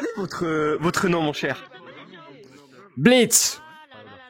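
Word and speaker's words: Blitzø: Blitz. On prononce pas le haut.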